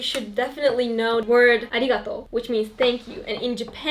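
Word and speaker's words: ありがとう: It's arigato? Arigato. Arigato. Arigato. Arigato. Do I pronounce it correctly? Yes, arigato. Arigato. Arigato. Arigato. Like kind of like a more soft because Japanese don't talk in that way.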